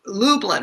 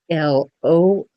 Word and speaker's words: Lublin: So Lublin, right? Make sure people know how to pronounce Mm. your name. So, And and then, by the way, Jill's name is spelled Lublin, but she pronounces it Lo.